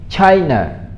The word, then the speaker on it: China: Come on, let's say China. So Chai is up and na. China.